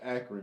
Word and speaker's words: Akron: It's Akron. It's not Akron either.